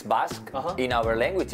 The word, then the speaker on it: Basque: Basque. In English, it's Basque.